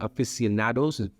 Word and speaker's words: aficionados: people who are more closer to audio audio aficionados that's the right way to pronounce it so that's the market that they're